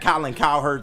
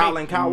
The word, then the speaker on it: Cowherd: It rhymes with Rowland Rowherd. Oh, okay. Got you. He has not said anything sincere in what, a decade and a half, maybe? Okay. Colin Cowherd?